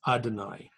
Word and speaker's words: Adonai: then comes God's name which in Hebrews pronounced Adonai this name is actually written